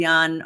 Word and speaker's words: Jan: put Jan because nobody can spell John say Yan although we should all try um and U my